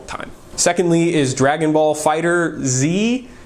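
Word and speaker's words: FighterZ: secondly is Dragon Ball Fighter Z you might want to call it fighters but it's it I believe the actual pronunciation of that is fighter Z I'm not a huge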